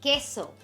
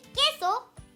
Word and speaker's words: queso: Teacher Catalina, ¿te gusta el queso? Me gusta el queso. Queso. Queso. Wow, that sounds great. That U is silent.